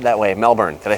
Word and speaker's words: Melbourne: Melbourne I mean Melb oure and E is pronounced Melbourne if I say it differently it's not said that way Melbourne did I say it enough behind me is